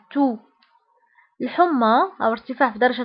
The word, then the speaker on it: toux: سعال la toux la toux la toux بالنسبة لا تو تكتب بإكس في آخر الكلمة ولكن لا ننطقها نقول la toux.